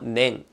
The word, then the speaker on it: 年: 音読みは年、音読みは年。